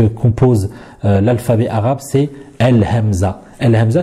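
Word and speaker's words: همزة: Al-Hamza qui est très facile à prononcer, puisqu'en français, c'est comme les voyelles en français, le A, le I ou encore le OU.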